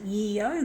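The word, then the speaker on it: Yeo: combi or yo street just pronounce it yo because it's y-e-o so there's some really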